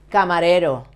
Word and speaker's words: camarero: Camarero, the same. Camarero, it ends in vowel. Because, so, that's why you have to stress the penultimate syllable.